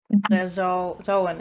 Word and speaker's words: Zoan: Zoan is how it's pronounced. Yeah.